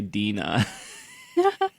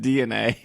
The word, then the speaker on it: DeNA: I also side note I hate when people say Dena it's just DNA that's they're very clear about how to say their name it's just it's just DNA it's not Dena um DNA came out